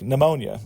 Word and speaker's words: pneumonia: for example with English there are words like pneumonia in which the p is silent that doesn't happen in